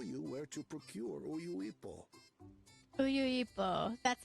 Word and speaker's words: Uyuipo: Uyuipo.